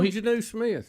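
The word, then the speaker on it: Jonnu Smith: video 8 how do you say his name Janu Smith is that right Janu Smith so Janu Smith yeah yeah so he scores his first ever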